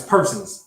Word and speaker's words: Persons: Not Parsons, Persons. Maybe that'll help. Nick Persons was his name, not Parsons.